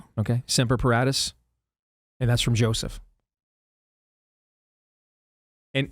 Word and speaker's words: Paratus: Seratus. That sound right to you? Paratus. Yeah. P A R A T- Us. Yeah, I would think so. Okay. Ser Paratus.